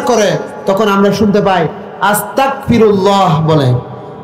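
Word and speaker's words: أستغفر الله: আস্তাগফিরুল্লাহ, কাফ হবে না, হবে গইন আস্তাগফিরুল্লাহ।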